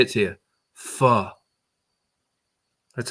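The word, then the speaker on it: pho: Fu. That's how you're supposed to pronounce it. I thought it was fo the Don't you spell it like that then?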